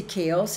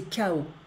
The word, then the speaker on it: chaos: décennies de chaos, et we don't say chaos in French, we say chaos, so we don't pronounce the S, et d'horreur, où s'entremêlent